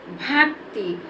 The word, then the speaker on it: भक्ति: आधा का है तो इसको बोलने में हम ज्यादा समय नहीं लेंगे और आग साउंड का उच्चारण भी नहीं करेंगे इसको जल्दी से पढ़ देंगे भक्ति वक्त भक्ति पक्का